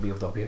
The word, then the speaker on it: BOW: BOW, but it just pronounces it Bo all the way through it. it doesn't have dots in between, it's just capital B, capital O, capital W, yeah.